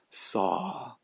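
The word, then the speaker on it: Sau: And so there is a corresponding Sanskrit mantra that goes along with it, which is Hong, that rhymes with song, and then Sa, S-A-U, that can be used.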